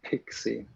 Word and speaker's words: PKCE: actually see something about pkce yeah or pixie someone said it's supposed to be pronounced so no i don't